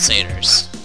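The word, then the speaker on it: Satyr: we got centaurs and saters and they are pathetic oh strict vegan it's pronounced Sater you're welcome Hey I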